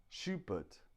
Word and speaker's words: Schubert: common sound in English so we have Schubert Schubert Schubert but but the stress is on the but Schubert Schubert so we stress the second syllable thank you very much